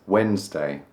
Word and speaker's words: Wednesday: It looks like it should be Wednesday, but no, stop it. We don't call it Wednesday. You can call it that in your head when you're trying to spell it. That works, but for some reason we say Wednesday.